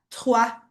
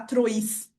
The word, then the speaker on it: trois: A primeira delas é o com i, que tem o som de o a. Então, como por exemplo na palavra, no número três que a gente vai falar tráa, certo? Aí a gente não vai falar trois, tá?